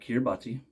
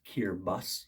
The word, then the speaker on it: Kiribati: their alphabet it makes the S sound so Kiribati is not kirbati it's kirbas so it's the Republic